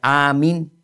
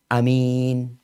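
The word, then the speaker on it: آمين: Apa yang dipendekin? A-nya, bukan minnya. Bukan amin, bukan. Tapi amin.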